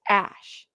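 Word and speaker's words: Æ: you apparently AE is name uh name is pronounced Ash how chatty now you you tell me so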